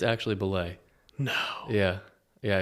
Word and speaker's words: Bulleit: people say it different ways apparently it's actually ble no yeah yeah it's the EIT is ble but I call it bullet and I think everyone else does too um